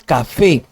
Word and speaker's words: café: La palabra café no es café, es café. ¿Y qué termina? En una vocal. Entonces lleva tilde.